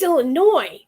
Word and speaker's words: Illinois: It's Illinois. But if you add the S on the end to Illinois, oh man, people get upset.